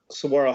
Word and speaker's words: Saguaro: And you went to, I always mess up the pronunciation of is it Saguaro? Yep. Saguaro High School. Saguaro in Scottsdale.